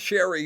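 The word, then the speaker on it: Cheri: This is reiterating this, but that name is pronounced Sherry, but Cherry Bates.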